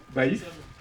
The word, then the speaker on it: Baif: L'adresse déclarée en fait il y a juste la ville enfin il y a marqué Baif, je se prononce comme ça Bif.